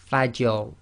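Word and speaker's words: فجر: So here we've got Fajr, and again the Fa is light, empty mouth, you must maintain that, and then you go into a heavy mouth on the Ra. So that's Fajr.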